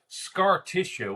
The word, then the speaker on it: Scartitia: That was hosted by the inimitable Scartitia, which is spelled kind of like Patricia at the end, but Scartitia, who was played by Annette Stutzman.